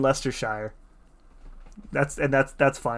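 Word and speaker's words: Leicestershire: Aussies got it covered you pronounced it wrong then Lester Sha Sha Shire I'm just it's the Shire you're all Hobbits and you live in Lester Shire that's and that's that's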